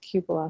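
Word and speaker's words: cupola: most people see the Weather Vein it's called Cupa Cupa and this is according to um I believe it's I was watching this old house and he said oh it's actually pronounced Cupa so I kind of feel like they know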